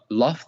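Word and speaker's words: لفظ: So let me teach you how to say it. Lafz. Sah, yeah, lafz.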